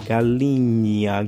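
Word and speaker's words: galinha: So we have the words like gala that's chicken gala. Um, try to put an E here. Galia Galia Galinia Gala Gala.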